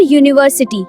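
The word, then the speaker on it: university: और यूनिवर्सिटी, यहाँ spelling you है लेकिन बोलते समय आवाज वाई यानी य की है।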